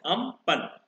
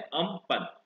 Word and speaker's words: Amphan: नाम दिया है अम्पन, which is pronounced as अम्पन. तो जिस कंट्री ने इस साइक्लोन को नाम दिया है दैट इज थाईलैंड, और इसको प्रोनाउंस किया जाता है अम्पन.